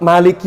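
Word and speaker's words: مالك: saya khatam itu itu lafaz Maliki yaumiddin ya kalau kita kan bacanya panjang ya ya kita bacanya panjang ya betul enggak kita bacanya panjang betul Imam siapa kita ini kita bertajwid ikut Imam Siapa Imam ha dari siapa asim hafz an asim albaakun yang baca panjang itu cuma satu Imam hafaz saja yang lainnya semua Imam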